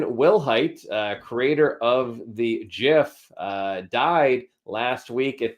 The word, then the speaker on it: GIF: gif i have to admit everyone says it's pronounced jeff but it is a jiff um so he passed away uh keith martin